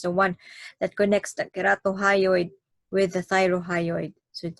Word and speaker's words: ceratohyoid: some will spell it as keratohyoid it's actually pronounced as keratohyoid it's print it's either letter c or k